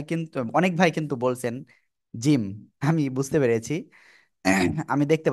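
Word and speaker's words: ج: টেনে আমরা উচ্চারণ করব তাহলে কি এরকম উচ্চারণ করব জিম এরকম এরকম করা যাবে না ঠিক আছে তাহলে কেমন হবে উচ্চারণটা জমিয়ে উচ্চারণ করতে হবে ধীরে ধীরে এই যে জিম সবাই একসাথে জোরে বলেন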